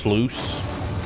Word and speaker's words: sluice: Sluice is pronounced sluice. I'm still gonna call it sluice. You know, we're just gonna call it slice.